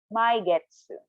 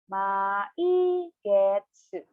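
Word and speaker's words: 毎月: So, for every month, you can say my getsu. Again, every month in Japanese is my getsu. One time again, slowly, per syllable. Maigetsu.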